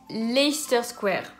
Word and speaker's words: Leicester Square: tous dur et pourtant il est bien connu leicester square voilà donc vous l'avez lu laisser ce terrain